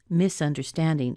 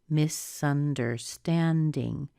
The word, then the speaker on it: misunderstanding: What syllable gets the most stress? Misunderstanding. Misunderstanding. Stand, isn't it?